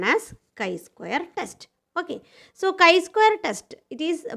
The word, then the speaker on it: chi-square: Okay, so chi-square test, it is pronounced as chi-square test, like this.